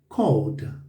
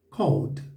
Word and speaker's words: called: escrito C C Então esse e aqui não é pronunciado então fala Called Called Então fala I Called